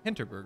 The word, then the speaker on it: Hinterburg: with more dungeons of I always get the name wrong I say dungeons of hinterberg let me get that correct hinterberg right yeah I'm going to apologize in advance